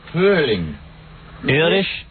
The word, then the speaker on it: Frühling: Frühling.